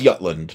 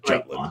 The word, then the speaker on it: Jutland: So, uh, Yutland. Well, in a way, I think I think Arklike might be right about this. Is it Yutland or Jutland? It is Yutland, but everybody says Jutland.